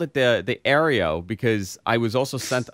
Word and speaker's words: Arlo: It's Arlo. A-R-L-O. No, you know what? You know why I called it? No, I called it the Arlo because I was also sent another product that had that name.